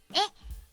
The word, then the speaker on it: へ: 格上しにえっこの文字は通常へと読みますが助詞として読むときはえっと読みますに前回の